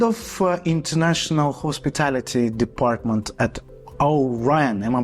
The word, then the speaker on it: Al Rayyan: Head of International Hospitality Department at Al Rayyan. Am I pronouncing it correctly? Yes, Al Rayyan International University College.